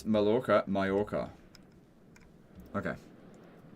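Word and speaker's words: Mallorca: Pronounce Malora Mayorca.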